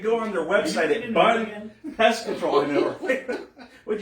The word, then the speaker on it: Bunn: Okay, it looks like Bum. Bum. Bum. Bunn Pest Control. Bunn. I know Bunn, but the way it's spelled here, it says Bum.